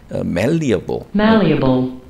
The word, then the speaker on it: malleable: 그러니까 멜러블 영 마인드 뭐 이런 식으로 그래서 이제 malleable 좀 정확하게 제가 발음을 하면 발음을 좀 들어보시면 malleable. 그건 제가 정정할게요. malleable 저도 발음을 좀 안 해봐서 그래서 malleable 여기 좀 넘어갔네요.